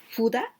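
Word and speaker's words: ふだ: Fuda, this kanji, and also this kihen, like wood or tree, and with. Here we pronounce fuda and ofuda.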